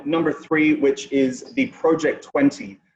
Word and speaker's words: Project XX: three which is the project 20. now a lot of people mispronounce this one as project xx totally understandable uh but